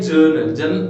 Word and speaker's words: journal: आप समझ जी और जे को प्रोनाउंस करने में डिफरेंस आता है ना, तो कैसे जी में कैसा जी जो मेरी टंग होती है नीचे रहती है, लेकिन जे में जर्नल थोड़ा सा ऊपर हो जाती है, तो ऐसा करके